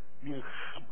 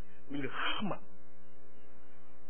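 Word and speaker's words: מלחמה: 밀하마. 할 때 이게 가래가 나오듯이 발음이요. 밀하마.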